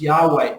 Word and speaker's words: Yahweh: research has pointed that the best possible pronunciation that I can find the majority of Hebrew Scholars agree that the pronunciation is Yahweh now but we could